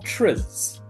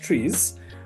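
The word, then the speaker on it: TRIZ: We also have trs uh sorry pronounced trees and in this case here um we are looking at the theory of inventive problem solving.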